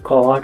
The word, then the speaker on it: cupboard: कभर्डको spelling CUPBOARD भयो भने यसको उच्चारण कवर्ड हुन्छ।